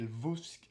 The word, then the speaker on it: Lvovsky: D'ailleurs, c'est Lvovsky. Lvovsky. Ouais, mais je crois qu'on prononce Lovski, un truc comme ça. Lvovsky.